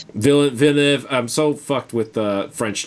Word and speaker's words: Villeneuve: than like, you know, see like a Denis Villeneuve. I forget to pronounce the guy's last name. Villeneuve.